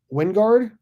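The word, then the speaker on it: Wijngaard: 1 of 50, Casper Wingard. I guess the J is silent.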